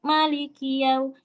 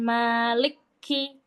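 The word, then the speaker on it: مَالِكِ: Malikiu itu ada rumusnya. Jadi yang kita tahu aja dari bacaan. Nah, maa di sini baca dua harakat. Ingat satu ayunan. Maliki. Jangan malik ki.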